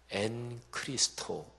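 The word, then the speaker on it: ἐν Χριστῷ: 그래서 그 헬라어로 발음하면 엔 크리스토 이렇게 됩니다.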